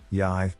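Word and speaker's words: ใหญ่: Another pro tip, when ordering in remote Thai locations, you can say the word Yai, rhymes with Y, which will indicate that you want a big bottle.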